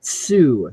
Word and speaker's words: TSU: somebody um TSU is pronounced Sue so hence the joke I'm gonna sue somebody you know yeah get